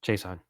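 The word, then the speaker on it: Chaisson: Kon Chason how's that how's the last name pronounced Chason Chason yeah Kayon Kayon Chason so that's my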